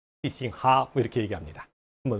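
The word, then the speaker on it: 必胜客: 광동어도 뭐 아주 흡사하진 않지만 그래도 표준어에 비해서 必胜客 보다는 조금 더 유사합니다. 한번 들어보세요. 必勝客 피싱핫 이렇게 하죠.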